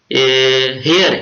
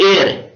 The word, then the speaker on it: heir: इसके बाद इट इज नॉट हेयर, इट इज एयर, HEIR, हेयर नहीं है ये एयर है, इसको एयर प्रोनाउंस करना है।